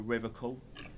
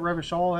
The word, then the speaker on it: Revachol: Oh, I've been tempted, but someone has to stay strong for Rivercall. Are you sure that's even how you pronounce the town? Rivercall, you said? Isn't Revachol?